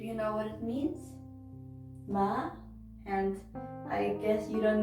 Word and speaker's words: 마: it's a square and it is pronounced like the m you put the r behind it and you get ma okay i will give